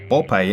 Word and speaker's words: Popeye: Popeye, pronunciado Popeye en inglés, es uno de esos